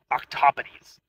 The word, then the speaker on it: octopodes: my personal favorite is octopodes because its alternate pronunciation sounds awesome octopodies